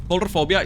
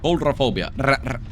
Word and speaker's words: Coulrophobia: And like genuinely, Coulrophobia is such a What the Why did I say it like that? Coulrophobia Coulrophobia is such a mean perk and it's